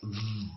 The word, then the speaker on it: ב: It sounds like ba, ba, ba. But without the dot, it's v. And this makes sense phonetically because the letter ba and va are very closely related. They're both made with the lips.